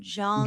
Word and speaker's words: Jung: Brian Brian Young, if you know Brian Young, started watching his stuff. Brian Young? Brian Young Brian Jung, sorry for pronouncing it wrong. J U N G.